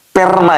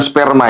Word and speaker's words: Perma: Sudah jelas ya, Perma ya, bukan sperma ya.